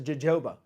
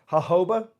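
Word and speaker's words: jojoba: I got a friend that he says jajoba. All right. So I'm just going to tell you this. Hoba is how you say it.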